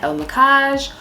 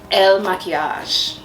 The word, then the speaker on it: Il Makiage: second video based on IL MAKIAGE or IL MAKIAGE. How do you say it, babe? Okay, so my boyfriend says it's in French. Maquillage is makeup in French. So it's IL MAKIAGE.